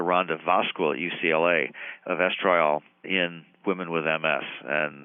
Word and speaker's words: estriol: One of the candidates as an immunosuppressive substance produced during pregnancy is one of the estrogens called estriol, E-S-T-R-I-O-L. Some people pronounce that estriol.